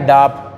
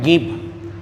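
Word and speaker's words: ङीप्: तीसरा है गीप, ये जो है ये इसको डीप ना पढ़ें, ये अंग की बिंदी लगी हुई है तो नाक से उच्चारण होगा तो इसको पढ़ेंगे गीप। ग है गीप, ऐसा पढ़ेंगे, इसको डीप नहीं पढ़ेंगे, इसको गीप पढ़ेंगे।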